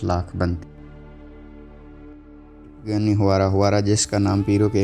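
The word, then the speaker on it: Huayra: کی حیران کن کارکردگی۔ ہوارا جس کا تلفظ کیورا سے ہے، ٹوین ٹربو چارج کے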